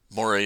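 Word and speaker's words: moiré: by lines of interference Moray is French I believe where is this French word and according to Wikipedia that's how you pronounce it now I'm not an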